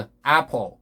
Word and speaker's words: apple: 이 발음도 apple.